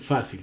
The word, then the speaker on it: fácil: tiene el acento en fácil, ¿cierto? Entonces, ¿qué pasa? Como tiene el acento en fácil, en fa, no fácil, sino fácil, y como fácil termina en L, entonces lleva tilde.